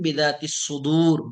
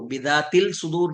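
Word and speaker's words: بذات الصدور: आप कुरान में भी पढ़ते हैं, अल्लाहु अलीमुम बिदातिस सुदूर, बिदातिस सुदूर, बिदातिल सुदूर नहीं पढ़ते, बिदातिस सुदूर।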